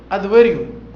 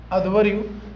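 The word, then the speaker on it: अध्वर्यु: धार्मिक अनुष्ठानों के संदर्भ में प्रार्थनाओं का उल्लेख द हिम्स इसके जो स्त्रोत है उसको उच्चारण करने वाले को अधवरु अधवरु इसको हिंदी में ऐसे लिखा जाएगा उनको अधवरु बोलते थे अब इसमें लिखा है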